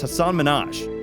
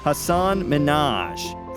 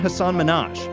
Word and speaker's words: Hasan Minhaj: I start an France I hear people pronouncing it Hasan Minhaj France said I'm almost positive that's not how we say it Manoj confirmed and added there is no Hasan Minhaj that's my Clark Kent it's a brown thing